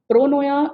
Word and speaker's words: pronoia: the next one is the feeling of pronoia pronoya is the opposite of paranoia pronoya is the